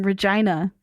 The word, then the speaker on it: Regina: But yeah, they see this dead motorcyclist with his ass hanging out on the side of the road as they're entering Regina. The city that rhymes with fun.